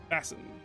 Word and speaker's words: Bassin: And we have Bassin. Uh, apparently that's how it's pronounced. I was saying bas and I was like